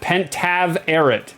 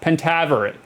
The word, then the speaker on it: Pentaverate: old as beef like and pentavarit pentaverate pentaverate okay okay ah thanks for the step-by-step pronunciation I needed it um guys we got